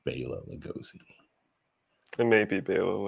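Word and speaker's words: Bela Lugosi: for stuff like this I'm pretty sure it's pronounced Bayla Lugosi it may be a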